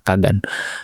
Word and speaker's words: Kagan: Noah Kegen ya. Tapi bacanya Noah Kagan itu ee dia nulis satu buku gimana caranya lu bikin sebuah bisnis over the weekend.